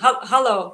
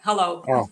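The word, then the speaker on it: hallo: correct yeah that's it hello is that how is that how it's pronounced do I get it right hello yeah hello excellent thanks Jenny we're learning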